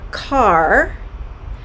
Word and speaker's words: car: the r sound r car i'm going to drive the car to work on the east coast car is pronounced ca and particularly the northeast so the r sound is diminished and what i've seen